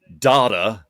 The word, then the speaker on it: Data: Data and data. The second way you said that was the correct way.